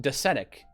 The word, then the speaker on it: docetic: I guess so, because like it's pronounced docetic. So Docetism is kind of they match, right? They match up in terms of emphasis.